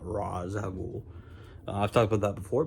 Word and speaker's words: Ra's al Ghul: By the way, it's pronounced Ra's al Ghul, not Ra's al Ghul.